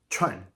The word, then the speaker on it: 串: And finally, the sharp dropping Chuan, fourth tone.